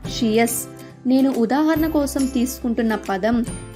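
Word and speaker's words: -tious: TIOUS యొక్క ఉచ్చారణ షియస్.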